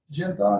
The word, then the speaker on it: Genthon: Genthon, is that how you pronounce it? That's correct.